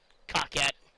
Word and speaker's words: Coquette: Coquette. But it's actually Coquette. I'm pretty sure.